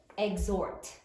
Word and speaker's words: exhort: How many syllables are there in exhort? Exhort. 2 syllables. There was a surprise hidden there. Sound it out. X. Or exhort. Interesting. Definitely a surprise.